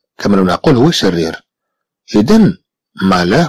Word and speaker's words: malin: إذن malin comprend le son 1 et c'est écrit avec IN à la fin du mot.